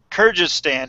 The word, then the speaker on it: Kyrgyzstan: Kyrgyzstan.